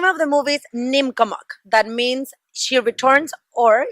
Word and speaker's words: Neemkomok: Yes, the name of the movie is Neemkomok.